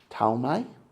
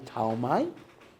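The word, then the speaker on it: Ptolemy: One general's name was Talmi. That's spelled in English like Pon. P O L M Y. Talmi.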